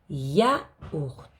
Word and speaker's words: yaourt: Le T est muet. Yaourt.